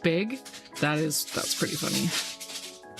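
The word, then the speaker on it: beag: the the Scots Gaelic word for small is pronounced big.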